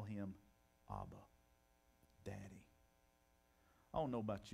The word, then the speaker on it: Abba: they would be saying Abba or ABA is the better pronunciation Abba can you imagine